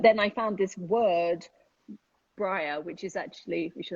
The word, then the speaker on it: Bryr: It's bria, I think is how you pronounce it. And it means to care. But we pronounce it briar, which is, I'm English,